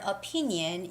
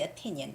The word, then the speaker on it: opinion: your english okay and when you were saying the word opinion you sounded like you were saying opinion into four syllable words but it has to be opinion opinion more like opinion three syllable words okay so not opinion but it's opinion for example when i was